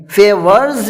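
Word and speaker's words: favours: فیورز میں بھی جو ایس لگا ہوا ہے اس کا تلفظ زا سے ہوگا، کیونکہ آر کے بعد اگر کوئی ایس آتا ہے اس کا تلفظ زا سے ہوتا ہے.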